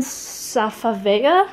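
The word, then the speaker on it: Safavieh: of course and i think it's the brand safavaya that's how you pronounce it but again it just brings in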